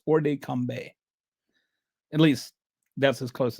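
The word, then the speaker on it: hors de combat: First of all, this uh orde combe it's the t is not pronounced by the way. I've I don't know French, but I've kind of looked up how to pronounce this. It's not ord combat or something.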